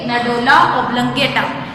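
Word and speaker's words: medulla oblongata: इसको कैसे प्रोनाउंस करेंगे? मेडुला ऑब्लंगेटा।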